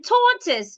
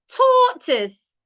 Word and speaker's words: tortoise: As in tortoise, not tortoise. It's tortoise. Tortoise.